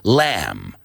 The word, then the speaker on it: lamb: with me guys lamb just imagine that letter that excuse me that word without the B in it I think that's the best way to do it l am lamb reuse it in context